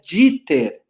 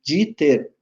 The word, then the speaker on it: Dieter: Klaus, com K e um S só, Dieter, mas se pronuncia Dieter. Quando em alemão tem IE, se pronuncia só o I. Dieter.